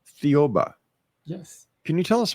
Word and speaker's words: Thiaoouba: Now, there's a prophecy that you want to talk about and I cannot figure out how to pronounce it. So, I Thiaoouba. I'm sorry? Thiaoouba. Thiaoouba.